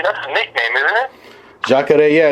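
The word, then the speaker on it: Jacaré: But you know why I would choose how do you pronounce his name? Is it Jacare? That's a nickname, isn't it? Jacare, yeah, it's Ronaldo, but Jacare means alligator because he does this whole alligator thing, yeah.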